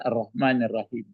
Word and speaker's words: arrahmanirrahim: Tapi arrahim mesti diucapkan arrahmanirrahim.